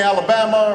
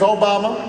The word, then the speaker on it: Obama: Although people wouldn't say it right. And they'd call me Alabama, or they'd call me Yo Mama, and I'd have to explain, no, the name's Obama.